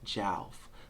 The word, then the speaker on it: Jalf: So it's Jalf. Like couch. Like mouth. Like pouch. Like Jalf. J-A... Even if you gotta throw a W in your mind, Jawlf. That's how you pronounce Jalf.